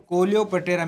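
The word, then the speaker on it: Coleoptera: कौन सा है दोस्तों कोलियो पटेरा मैं इंग्लिश में लिख देता हूं कोलियो पटेरा इसमें ध्यान रख लेना ये पी हमेशा बच्चों साइलेंट रहता है कौन सा रहता है ये पी आपका हमेशा साइलेंट रहता है अगला क्वेश्चन है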